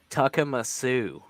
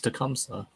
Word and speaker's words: Tecumseh: Well, how else do you pronounce Tecumseh? It's probably Tuckamasoo. Nah, it's like Tecumseh. It's like Tecumseh. Nope, it's Tecumseh. Yeah, it's Tecumseh.